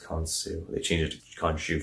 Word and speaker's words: Khonsu: It's not Khonshu, because that's from Moonlight. Khonsu, it's pronounced Khonsu.